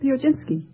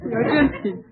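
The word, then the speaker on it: Piechocinski: Uh Charlotte, uh, how do you pronounce your name? Yojinski. Would you mind spelling it? P I E C H O C I S K I. Now pronounce it again. Yojinski. Comes out just the same.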